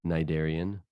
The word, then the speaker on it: cnidarian: So the ganglia for a flatworm, there's some nerve cells in the cnidarian, and yes, the C is silent.